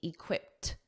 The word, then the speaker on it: equipped: functions as your adjective notice that pronunciation that Ed D is a soft T equipped equipped now when you say